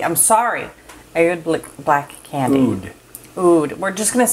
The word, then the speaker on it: Oud: Oud. We're just going to say Oud, okay? And when it's like A-O-U-D, it's going to be Oud.